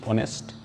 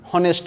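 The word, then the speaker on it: honest: ম্যান, অনেস্ট ম্যান, ওকে, এইচ ও এন এস টি, অনেস্ট, এখানে এইচের উচ্চারণটা কিন্তু নেই, হনেস্ট আমরা বলছি না, বলছি অনেস্ট, ওকে।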